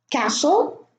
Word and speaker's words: castle: So I'm going to read them again: Christmas, castle, fasten, listen, glisten, soften, moisten, hasten, wrestle, whistle.